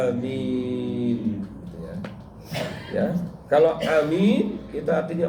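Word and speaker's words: آمين: Amin itu artinya istajib, dan bacanya panjang, Pak. Jangan amin. Nah, itu salah. Yang betul adalah amin.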